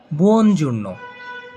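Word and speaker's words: buongiorno: শুভ সকাল এর ইতালিয়ান শব্দ হচ্ছে বুনজূর্ণ।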